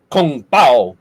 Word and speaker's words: kung pao: compound triple delight oh you gotta say it right though it's kung pao you know you gotta go you know you got to get that that pow in there all righty art